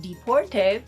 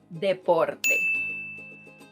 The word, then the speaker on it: deporte: La natación es mi deporte favorito. Swimming is my favorite sport. So, if you were thinking that this word is pronounced deporte because you thought it was somehow related to